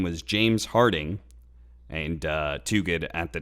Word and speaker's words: Harting: And the guy said his name was James Harting, and he kept pronouncing it with like a hard T instead of a D, and was adamant.